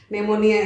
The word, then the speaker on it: pneumonia: dengar banget istilah itu kalau enggak salah tulisannya itu ada huruf p-nya di depan ya do pneumonia Tapi bacanya enggak pakai p ya Dok yaonia pneumonia sahabat